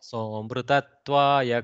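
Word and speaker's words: सोऽमृतत्वाय: Whenever you see the avagraha, no need to deliberately pronounce the Okay. akara. So you can say somrutatvaya, somrutatvaya kalpate, like that.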